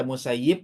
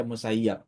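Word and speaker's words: المسيب: Boleh dibaca Musayyib, boleh bisa dibaca Musayyab. Itu dua cara bacanya namanya.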